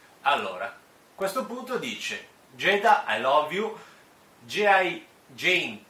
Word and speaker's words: Jada: magari sbaglio la pronuncia, si scrive Giada, almeno in italiano sarebbe Giada Pinkett, però appunto, come si sente qua nell'audio, si pronuncia Jada, mi pare di aver capito così, Jada.